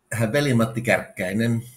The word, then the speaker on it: Veli-Matti Kärkkäinen: And so give us the proper pronunciation of your name. Did I do it right? Veli-Matti Kärkkäinen.